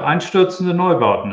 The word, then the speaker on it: Einstürzende Neubauten: Can you say to me the right pronunciation of the band? You're doing very well. Einstürzende Neubauten is good.